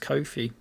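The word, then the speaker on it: Ko-fi: I think it's pronounced Kofi.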